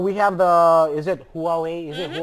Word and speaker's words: Huawei: Yeah, and we have the, is it Huawei?